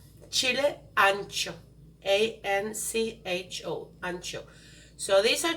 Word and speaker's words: ancho: You can substitute this with something that's called chile ancho.